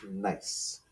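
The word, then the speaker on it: gneiss: nice it's uh the g is silent right yeah g-n-e-i-s-s nice good nice okay number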